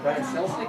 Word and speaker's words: Brian Selznick: Karen edited it with illustrations, more like illuminations, from the artist Brian Selznick, am I pronouncing his name right?